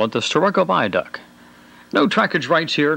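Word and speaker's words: Starrucca: It may be spelled one way and pronounced another, but we heard locals call it the Sturroco Viaduct.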